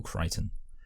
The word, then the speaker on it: Crichton: and the screenplay, of course, was by Michael Crichton, who actually wrote the book initially. Yes, by the way, it's actually pronounced Michael Crichton.